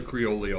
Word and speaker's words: Creole: Creolei. Is that Is that how you say it? I No, that is now how we say it. How do you say it? Cuz I'm right. No, it's creole.